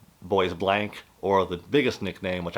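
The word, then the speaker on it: Bois Blanc: on an island called French pronunciation the best I can boss blonde or they call it um boys blank or the biggest nickname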